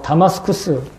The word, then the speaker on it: 다마스쿠스: 사울은 이렇게 자기의 신념을 관철하기 위해서 다마스쿠스, 개혁성경은 다메섹이라고 얘기하는데 다마스쿠스가 좀 더 발음과 가까운 지명입니다.